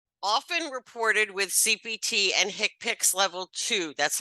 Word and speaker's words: HCPCS: procedures which are often reported with CPT and hick picks level two that's how you pronounce that hcpcs hick picks it's the way it is you know Healthcare